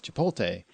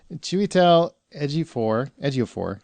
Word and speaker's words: Chiwetel Ejiofor: actor's name, Chiwetel Ejiofor, I had to work very, very hard to say his name correctly because I kept referring to him as Chipotle. And he's not a pepper.